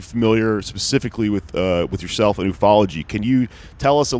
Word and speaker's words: ufology: Yes, technically it is ufology, except I do prefer ufology because it's funner to say, and it gets you like that.